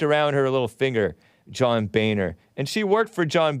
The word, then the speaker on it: Boehner: According to a LinkedIn profile, worked for John Boehner, spelled Boehner. So some of us thought that it was pronounced differently, but it's pronounced supposedly John Boehner.